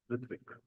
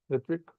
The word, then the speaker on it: Ritwik: How you pronounce Ritwik? Your name? Ritvik. Ritwik? Ritvik. Ritwik. Ritvik. And Sahib Kaur.